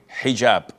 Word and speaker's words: hijab: otel or Alo but this is an Arabic word so we're Muslims we have to say hijab secondly it is permissible